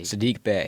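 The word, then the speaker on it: Saddiq Bey: traded for uh yeah how do you say his name Bae last name Bay Sadiq Bay Sadiq Bay I don't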